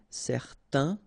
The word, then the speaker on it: certain: Okay, so it's nasal in your nose, un. Okay, if you add this at the end, then it will change the thing, and then you will pronounce it n.